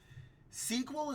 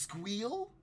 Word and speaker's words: SQL: for something very specific SQL is pronounced squeal it's pronounced squeal no I I hate